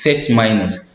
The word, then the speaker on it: set minus: This one is not pronounced slash, which is set minus.